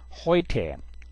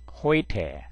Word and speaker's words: heute: Weber, Weber, 그 다음에 에우는 로 아웅라우트 우는 오이로 발음합니다. 오이, 그래서 heute, heute, neu, neu, der Freund,